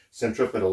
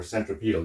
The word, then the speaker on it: centripetal: a little C there meaning centripetal or centripedal you can pronounce it either way now also you'll also